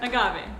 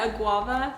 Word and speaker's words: agave: Agave. I kept calling it a guava.